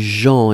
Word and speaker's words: gens: La première chose, c'est les gens. Et souvenez-vous, les gens, on écrit ça avec un GENS. On ne prononce pas le S final, bien sûr, mais on doit le noter.